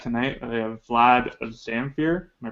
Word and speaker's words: Zamfir: have our guest tonight we have Vlad of zamere am I pronouncing that right yeah that's right so you